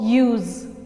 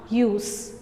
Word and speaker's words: use: use this as verb, use, z. Clear? And when we have to use that as noun, as adjective and as adverb, so we have to give S sound, use.